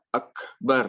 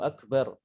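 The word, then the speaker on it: أكبر: Jadi huruf kaf ini dia itu punya dua sifat yang unik ya. Pertama dia tertahan suara. Ya, suaranya tertahan. Kemudian yang kedua, nafasnya mengalir.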